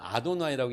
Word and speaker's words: 아도나이: 될지 모르겠는 거예요 그래서 이게 나오면 이렇게 항상 아도나이라고 읽는다 그랬잖아요 아도나이 요렇게 씁니다 그래가지고